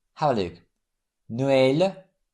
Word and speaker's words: Noël: It's used on A, I, and U to indicate that the vowel is to be pronounced separately from the one immediately preceding it. Have a look. Noël, naïf, Saül.